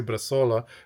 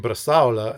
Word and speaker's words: bresaola: I always would say bresaola. And everyone's like, "What? Oh, you mean bresaola?" And I'm like, "Yeah, bresaola." And I've just got to get that pronunciation correct.